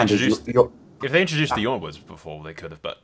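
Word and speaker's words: Yronwood: And I'm already predicting people in the comments going, it's not Yornwood, it's Ironwood. Fuck off. No, it's Yornwood.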